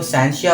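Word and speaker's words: scientia: अब देखें इसकी जो सही प्रोनाउंसिएशन होगी वो साइंसिया होगी। कुछ लोग तो साइंसिया भी कहते हैं। ठीक है, तो वो भी सही है, ये भी सही है। साइंसिया कहें तो बेहतर रहेगा आपके लिए।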